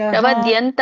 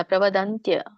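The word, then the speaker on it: ಪ್ರವದಂತಿ: ಪ್ರವದ್ಯಂತ ವಿಪಚಿತ ಪ್ರವದ್ಯಂತ ಅಲ್ಲ ಪ್ರವದ್ಯಂತ ಅಲ್ಲ ಪ್ರವದಂತ್ಯ ಸರಿ ಪ್ರವದಂತ್ಯ ವಿಪಚಿತ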